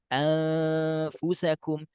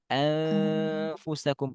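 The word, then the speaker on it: أنفسكم: ke gigi oke nah ketika kita mengucapkan Nun sukunnya maka bacanya anfusakum anfusakum dan harus ada ke hidung enggak boleh ini enggak ada ke hidung dan ini salah ya harus harus sengau sengau ya sengau itu suara ke hidung Ya itu kalau Fa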